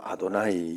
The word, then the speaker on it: 아도나이: 거기에 이 발음을 할 수 있도록 모음만 있는 그 글자는 글자는 읽지 않고 모음만 있는 그것을 가지고 아도나이 이렇게 읽어요.